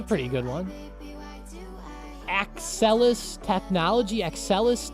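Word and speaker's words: Axcelis: Accelis technology. It's spelled Ax C I S. Aelis.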